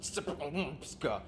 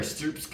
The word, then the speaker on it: Srpska: pronounced Srpska.